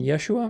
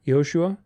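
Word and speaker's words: ישוע: wild theories about that Jesus's Hebrew name was pronounced Yeshua Yeshua or Y yosua Yoshua probably the older version yosua but it's Yeshua there's also a guttural on the shin sound the sh I don't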